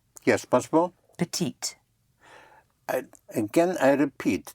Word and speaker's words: petit: Petite. Yes, once more? Petite. Again, I repeat, the consonant at the end of a word is not sounded unless it is followed by an E.